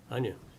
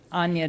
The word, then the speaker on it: Ana: Anya, I think you were saying my name. Um, it's Ana Danan.